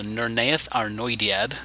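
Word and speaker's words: Nirnaeth Arnoediad: the epic fifth battle the nernaeth ar noidiad which is one of my favorite elvish names in the whole series took me a while to figure out but that's how you say it in this great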